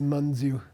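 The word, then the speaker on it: mañju: But the correct pronunciation is manu. I say mju. It's a short a. It's not a long a.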